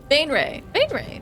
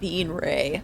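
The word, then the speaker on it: Baenre: Bainray, or Bainray, Beanray, not Beanray. No beans, no beans.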